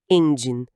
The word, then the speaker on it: engine: Aqui a sílaba tônica tá no começo, n. E o din tem aquele som de jem judge, seguido de um n suave, engine.